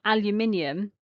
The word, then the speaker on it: aluminium: For example, aluminium has got al, u, min, e, so it's got 5 syllables.